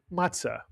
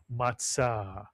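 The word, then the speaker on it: מַצָּה: You'll hear people call it matzah, but the Hebrew pronunciation in Sephardic is matzah, mitsuyan.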